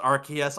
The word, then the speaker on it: Arceus: pokemon legends arceus stuff and yes it is pronounced rks i am dying on this hill you can't stop me disagrees with me it's arceus yes it's even the official pokemon director or